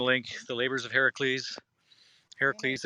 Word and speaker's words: Heracles: Heracles, as his name is actually pronounced, not Hercules. I know. But who actually pronounces it the way it's supposed to?